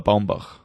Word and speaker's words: Baumbach: And it's by Noah Baumbach. Baumbach. I don't know how you pronounce his name, even more American.